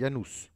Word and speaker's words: Janus: dédiée à ianu ce ça s'écrit janus mais ça se prononce il ya nous n'oublions pas que en